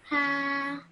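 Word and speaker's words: ح: Now, when I said how you pronounce this, I said you have to take a nice big deep breath and say this letter.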